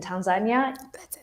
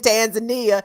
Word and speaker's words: Tanzania: story about how Tanzania, I love the way Africans say, well, they're saying it right. I guess I'm the one saying it wrong when I'm saying Tanzania. No, it's Tanzania. Say that shit right.